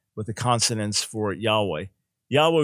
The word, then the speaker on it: Yahweh: the consonants for yahweh yahweh would be the most likely pronunciation but we can't be dogmatic uh if you if